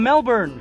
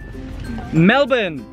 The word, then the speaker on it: Melbourne: introduce you to two friends of ours from Melbourne hi Hi how are you yes yes you didn't pronounce it right Melbourne Melbourne that's right and your names Nicole and